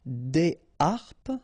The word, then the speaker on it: des harpes: Des harpes, okay, so you don't make the liaison between the two. Des harpes.